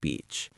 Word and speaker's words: beach: The word beach has a long e sound in the middle.